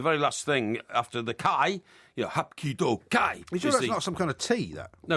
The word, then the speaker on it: ki: C-H-I. He says it's pronounced chi, No. not kai. No, it's kai.